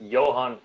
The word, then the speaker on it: Johan: let uh Johan go first yeah so that's Johan F amort so you came really close to